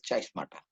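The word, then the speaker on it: chiasmata: Okay, तो बहुत बार इसका प्रोनाउंसिएशन कोई कैस्माटा भी करता है, चाइस्माटा भी करता है। ओके, चाइस्माटा जहां तक मुझे मिला है वहां तक इट इज चाइस्माटा।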